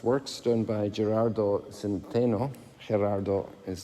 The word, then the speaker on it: Gerardo: done by gerardo centeno gerardo is the way it's pronounced in chile all our major artists